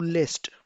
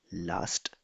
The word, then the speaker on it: lässt: Lässt, lässt kommt immer mit A Umlaut. A के ऊपर हमेशा एक umlaut होगा. Darum nennt man das lässt. इसीलिए इसको lässt कहा जाएगा, last नहीं कहा जाएगा.